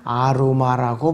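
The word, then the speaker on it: ערמה: 그래갖고 히브리어 발음은 아로마라고 발음해요. 아로마.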